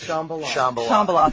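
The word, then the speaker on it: Shambala: Shambhala.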